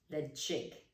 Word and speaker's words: Ledaig: kilhomen kill holmen next one we have is the chick the chick now we have kalila kalila and